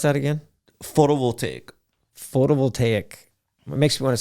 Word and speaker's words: photovoltaic: oil yeah and PV systems how do you pronounce that again photo will take photovoltaic it makes me want to say prophylactic your